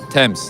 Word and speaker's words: Thames: River Thames. Thames.